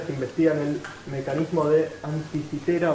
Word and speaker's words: Anticitera: De hecho se debería pronunciar anticitera, pero me enteré tarde y ya muchísimas veces pronuncié anticítera, así que me va a costar corregirlo. Probablemente diga anticítera, sepan ustedes que es anticitera.